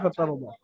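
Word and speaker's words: فَتَرْضَىٰ: রব্বুকা ফাতারদা। দেখেন ওয়ালা সাউফা ইউতিকা রাব্বুকা ফাতারদা, ফাতারদা, র সাকিন ডান দিকে জাবার, রকে পুর করে পড়তে হবে, অর্থাৎ মুখ গোল করে পড়তে হবে।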